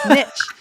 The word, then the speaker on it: niche: that the word maybe but no Niche it's just Niche and because I hadn't seen it written it is the word Niche and this is one